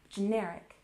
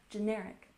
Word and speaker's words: generic: We emphasize the second syllable, generic, generic. Generic refers to medication that's produced by smaller companies.